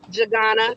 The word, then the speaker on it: Jagana: okay we have jagana I don't know how to say that gotta unmute your phone there we go how do you say your last name jagana that's correct I got it right